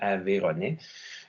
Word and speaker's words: Aveyronnais: Le Y muet, il y en a seulement 2 exemples. Aveyron, la région. Donc, les gens qui y vivent sont des Aveyronnais. Le Y pourrait être absent et on prononcerait quand même Aveyronnais.